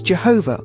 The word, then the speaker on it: Jehovah: You can pronounce it as Jehovah or Yahweh among a few other variations.